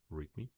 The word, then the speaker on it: README: is docker push rmr now that is pronounced readme and that is for